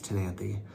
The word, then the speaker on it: Ctenanthe: But the C is silent. It's Ctenanthe.